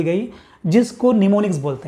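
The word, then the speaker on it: mnemonics: बना दी गई जिसको निमोनिक्स बोलते हैं। क्या बोलते हैं, ये एम साइलेंट है, क्या बोलते हैं, निमोनिक्स। आपको याद रखना है, निमोनिक्स बोलते हैं।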